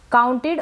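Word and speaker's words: counted: अब यहाँ पर ये जो ओ यू है ना, इसको आउ पढ़ा जा रहा है। क्या पढ़ा जा रहा है, आउ, ओ यू।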